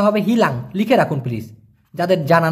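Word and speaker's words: hilang: না দেখুন মালয়েশিয়ান ভাষায় হারানোকে বলা হয় হিলাং হিলাং উচ্চারণটা হবে হিলাং লিখে রাখুন প্লিজ যাদের জানা নাই হিলাং আর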